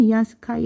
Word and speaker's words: 위안스카이: 군대를 빼는데 싹싹 긁어모아서 군대를 뺐는데 그 조선에 주둔하고 있던 위안스카이, 여러분 위안스카이가 발음은 위안스카이, 한자로는 뭐라고 했어요? 원세계, 동그라미 세계, 원세계가 이제 우리 이모군란 진압하러 3,000명 데리고 왔었거든요.